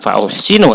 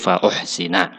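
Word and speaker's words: فَأُحْسِنَ: Fai maka menjadi nasab Jadi dibacanya Bukan fauhsinu tapi fauhsina yang kelima menjawab dengan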